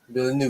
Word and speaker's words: Villeneuve: I cannot pronounce Villeneuve. Is that how you say it? Villeneuve? Villeneuve.